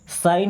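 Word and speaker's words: sign: साइन here. देखिए इस word में जी साइलेंट होता है।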